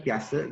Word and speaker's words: Piaget: Tulisannya Piaget gitu ya. Kalau dibacanya Piaget gitu.